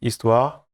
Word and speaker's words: Histoire: So yeah, you pronounce it Histoire. It's a French word for story.